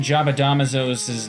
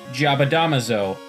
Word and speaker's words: Jabadamazo: Second of all, it clearly is pronounced Jabadamazo. Like, you take two letters, and there's a syllable there. Syllable. Am I fucking using that correctly? Who cares? It goes Ja-ba-da-ma-zo. There you go.